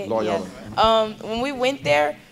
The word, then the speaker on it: Loyola: Loyola, that's how you say it? Loyola.